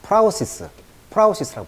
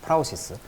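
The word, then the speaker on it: prowess: 자, 프라우시스라고 발음합니다. 프라우시스.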